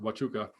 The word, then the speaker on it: Huachuca: up with that well watchuka army base is there it's a fort fort huachuca is there and it's spelled hua hua huachuca but it's pronounced wachuka and so i did